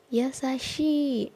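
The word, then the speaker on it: やさしい: Kemudian ada kata yasashi, artinya baik hati. Ini baik romaji ataupun cara bacanya sama ya, karena sama-sama i. Yasashi, i-nya panjang.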